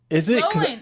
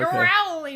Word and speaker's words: Rowling: Rolling. It's like rolling like a river.